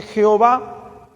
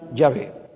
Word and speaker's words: Yahvé: válido que se pronuncie Jehová es válido es válido hermano entonces es válido que se pronuncie yahvé también es válido y Cuál es mejor los judíos contemporáneos pronuncian yahvé no Jehová ni yoha como dicen algunos